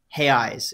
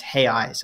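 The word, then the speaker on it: reais: pronounced how is it hey eyes it's hey really that's how it's pronounced it's spelled like real though yeah and and the plural is r-e-a-i-s and that's hay eyes at least that's how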